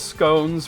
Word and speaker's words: scone: that an educated circles scones rhymes with bones like scones how were